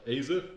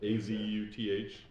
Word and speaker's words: Azuth: Azeth, Azuth, Helm, as you would.